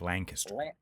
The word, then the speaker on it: Lancaster: It's It's Lang, like l a n g kiss ter. Like Lancaster. That's how the Amish say it.